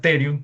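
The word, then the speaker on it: pterion: es el p terium se lo pronuncia terium pero se escribe así p así este este ángulo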